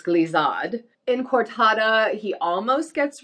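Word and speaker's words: glissade: them but it is definitely not glazod glazad it's glisad in cortada he almost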